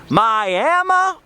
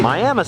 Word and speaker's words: Miami: to our next destination, Miami, Oklahoma. Yes, it's spelled like Miami, but don't pronounce it that way in front of the locals. They can become quite animated.